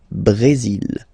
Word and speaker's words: Brésil: Okay, you will pronounce the final L here, and then remember accent aigu goes like E. Brésil.